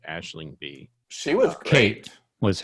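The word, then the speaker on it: Aisling Bea: Her name is pronounced Aisling B.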